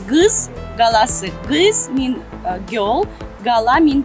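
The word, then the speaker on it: Qız qalası: Maiden Tower in Azeri is pronounced as gız galası.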